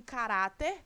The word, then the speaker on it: caráter: Em caráter, qual é a sílaba tônica? Ra. Ela, portanto, é a penúltima sílaba tônica da palavra. E essa palavra, portanto, que é uma paroxítona, termina em R. Por isso, a sílaba tônica recebe acento.